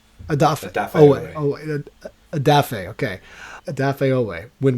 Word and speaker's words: Odafe Oweh: Odafe Oweh. Odafe Oweh.